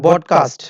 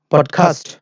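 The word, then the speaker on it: podcast: ওকে, এটা হবে বডকাস্ট, সবাই বলি বডকাস্ট, বাংলাদেশি স্টুডেন্ট মেবি 90% স্টুডেন্টরা বডকাস্ট বলে। ওকে, এটা ইন্টারেস্টিং বিষয়, এটা সত্য, যেটা হলো এটা হবে পডকাস্ট।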